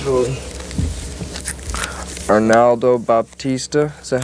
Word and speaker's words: Arnaldo Baptista: Arnaldo Baptista. Is that how you pronounce his name?